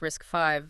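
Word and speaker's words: RISC-V: And then the name RACV, pronounced risk 5, that carries a bit of history too, doesn't it?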